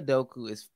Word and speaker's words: Udoka: Chaz Cook, and you pronouncing that last name? What is his name? Udoka.